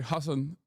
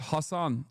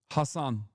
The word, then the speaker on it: Hasan: How do you pronounce that? I already told you it's Hassan, but it doesn't matter. Hassan Speaking of swagged out white boys relevant real.